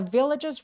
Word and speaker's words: villagers: villagers 할 때 발음하기 전에 반드시 바람 소리가 반드시 느껴져야 만합니다. 그니까 villagers 아니고 villagers villagers라고 과하게 바람 소리를 느끼게 해주세요. The villagers ran to help.